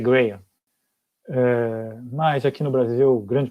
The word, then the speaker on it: Graham: Eu chamo de Graham, porque grande parte das pessoas chama de Graham, mas algumas pessoas chamam corretamente de Graham. De fato, a pronúncia correta é Graham.